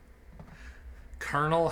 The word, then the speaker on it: Colonel: like all silent letters Colonel has a silent L nothing else does though